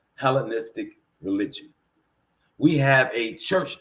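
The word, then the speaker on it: Hellenistic: stood for hell but grammatically grammatically helenistic yeah helenistic helenic helenistic church right so thank you baby for that pronunciation so the helenistic church is for their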